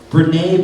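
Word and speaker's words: Brené: and so this is awesome quote and I mispronounced her name earlier something I try to say the correct way Brene brown said this just talking about integrity integrity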